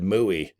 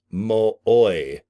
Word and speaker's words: Mooy: It said Mooey, and I just thought M-U-I, Moo-E, but no, it's Charles Mooy. Okay, like Boy Scouts.